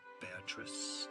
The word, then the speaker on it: Beatrice: Now, Beatrice is probably common pronunciation in English. Now, in Italian, it's pronounced Beatrice.